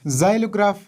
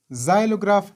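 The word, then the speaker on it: xylograph: خپل آواز ورکوي، او هر کله چې د جملې په سر کې استفاده شي په هغه وخت کې ډیری وخت زاید تلفظ کیږي، لکه زایلوګراف، زایلوګراف، زینوفیل، زینوفیل، زینوفوب، زینوفوب، زینوفوب، اگزام، اگزام، اگزامپل، example.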